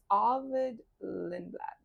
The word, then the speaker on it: Lindblad: Speaking of rookies, Arvid Lindblad.